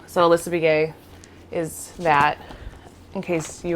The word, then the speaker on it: Begaye: so my name is it's pronounced be gay that's my maiden name so alyssa begaye is that in case